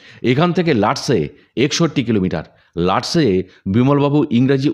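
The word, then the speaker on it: Lhatse: লাটসে বিমলবাবু ইংরেজি উচ্চারণেই লিখলেন। তিব্বতীরা লটাকে প্রায় উজ্জ্ব রাখে, অথবা লকে হসন্ত হিসাবে অস্পষ্ট বলে। হটসে কথাটাই কানে লাগে, যেমন লাহাসা মানে লাসা।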